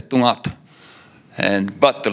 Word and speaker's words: Torngat: And well, it's not Torngat, it's Tungat. And but the letters are pronounced differently, and a combination of letters. And it's not Torngats, it's Tungait. So Tungat, Tungait, not Torngat, Torngats.